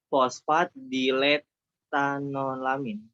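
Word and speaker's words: fosfatidiletanolamin: Ayo diulangi Alkoholnya itu bacanya gimana? fosfatidilethanolamin. Penggalan lanjut. katanya yang benar. Ayo. Fosfatdilethanolamin. Iya. Fosfatidil, etanol. Itu kan ada kata-kata itu, etanol, amin. Nah, artinya apa?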